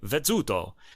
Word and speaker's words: Vezzuto: Now, it's easy, and that's pronounced like a TZ in English, right? Like pizza. So you'd say Vezzuto.